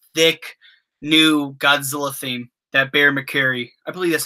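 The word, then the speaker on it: Bear McCreary: That Bear McCary.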